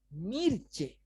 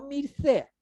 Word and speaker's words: Mircea: Mircea, no Mircea.